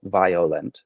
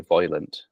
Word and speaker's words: violent: or it could be the way that she says it with an oi. And I chose we chose to go with the the kind of more oi voilant pronunciation of that. And there's justification for that because during the 18th century again uh a lot of commentators make it clear that there were two choices, two variants for that I sound.